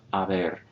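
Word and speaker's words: haber: have the present indicative forms of aver without pronouncing the h at all and then the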